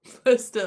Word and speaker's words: Leicester: Lester, obviously. He's probably thinking, Why is there a C in there?